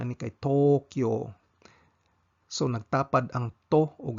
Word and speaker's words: Tokyo: s kayag Vow ang siudad sa Tokyo ang pronunciation an kay Tokyo so nagtapad ang to ug ang u spo